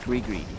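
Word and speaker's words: gris-gris: lore from it and it is pronounced gre gre is it something you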